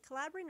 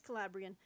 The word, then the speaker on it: Calabrian: a multi-volume history of calabrian i hope i'm pronouncing this crazy collaborating or calabrian it's calabrian okay um yeah so he's